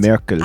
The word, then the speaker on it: Merkel: In German, it's pronounced Merkel. Angela Merkel. Oh, Angela I was Merkel. close. This one isn't too far off, but I do feel like there's a significant difference between Merkel and Merkel.